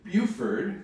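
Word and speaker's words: Beaufort: absolute hero then we spent a week in Buford that's how you pronounce it Buford South Carolina near Savannah because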